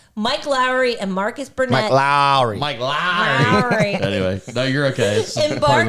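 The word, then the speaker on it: Mike Lowrey: Mike Lowry.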